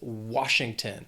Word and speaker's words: Washington: Then we have Washington. 3 syllables, stress is on that first syllable, Washington.